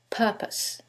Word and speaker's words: purpose: syllable that's stressed and in the second one is the first syllable and that changes the pronunciation completely the first word is propose and the second word is purpose so what is the